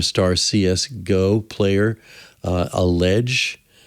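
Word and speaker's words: EliGE: cs go player uh allege spelled e-l-i-g-e but pronounced allege and one episode talks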